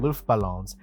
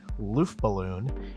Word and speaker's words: Luftballons: mashup of Nina's 99 Luftballons and aha's Take On Me foreign and it's fine other than him glaringly mispronouncing as he said it loofballoon it should be luftballon it isn't entirely clear